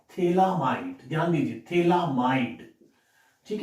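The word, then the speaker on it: phthalimide: Students, गैब्रिल scientist का name है, थैलीमाइड, इसमें PS साइलेंट रहता है।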